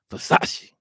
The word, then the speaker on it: Versace: You got to say it like that. That's how Tupac used to say it in all his rap videos. Versace. Got to put a little emphasis on it.